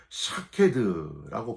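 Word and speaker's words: שָׁקֵד: 살구나무는 히브리어로 샤케드라고 발음을 하는데요.이 샤케드는 식물이 이름으로는 살구나무라는 뜻이지만은 동사로 쓰 쓰이면은 지킨다 그런 뜻을 가지고 있습니다.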